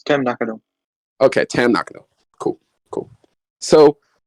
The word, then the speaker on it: Tam Nakano: It's Tam Nakano.